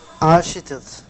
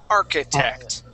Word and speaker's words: architect: So, this is one of the words where the CH is not pronounced like a CH. It's pronounced like a K. Architect.